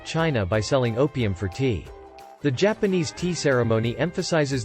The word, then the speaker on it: teh: trade deficit with China by selling opium for tea.